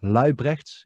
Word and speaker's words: Luijbregts: It's Luybrecht in Dutch, but it's a difficult thing in English.